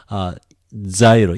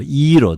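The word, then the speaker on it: γύρος: Gyro, iro, they say iro, like gamma with iota, iro. But in America, in the people in English, they say gyro.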